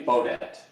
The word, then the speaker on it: Beaudet: It's technically Beaudet, but Beaudet.